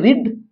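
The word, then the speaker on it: read: इसका उच्चारण होता है रीड। इसका होता है रेड। इसका भी होता है रेड। यानी कि ये 15वां वाला हम लोग का शब्द अलग है। हम लोग का रीड का उच्चारण बदलता है दूसरा और तीसरा रूप में।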